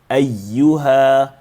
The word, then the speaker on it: أَيُّهَا: So if you want to be precise, make sure that you differentiate and become clear when you pronounce the ya with emphasis as well as the ha that comes in there. Ayyuha, قُلْ يَا أَيُّهَا الْكَافِرُونَ.